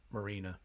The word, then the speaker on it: Marina: Marina.